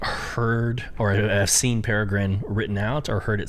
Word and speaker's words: Peregrine: It is Peregrine, guys.